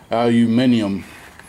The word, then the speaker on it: aluminium: aluminum reusable header gaskets, or as the British say, aluminium.